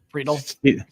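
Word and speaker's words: Friedl: They got, I think, one TJ Fried. Is that how you pronounce it? Friedel.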